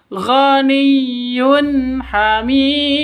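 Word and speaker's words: غَنِيٌّ حَمِيدٌ: Tanwin bertemu dengan ha. Cara bacanya jelas terang ya, tidak boleh didengungkan, tidak boleh disentak. Ganiyud hamid salah. Ghaniyun hamid juga salah. Yang betul. Ghaniyun hamid.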